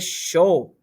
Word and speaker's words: chaud: The D is silent. Il fait chaud.